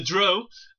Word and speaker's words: Drow: We have the drow.